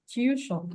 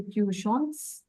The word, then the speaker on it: tu chantes: So the tu form, the tu conjugation is tu chante. What do? You add es. But do you sound it differently? Do you say tu chantes? No. You say No. tu chante.